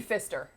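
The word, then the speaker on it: Pfister: Is it really just It's the Fister? just the Fister, because P is silent.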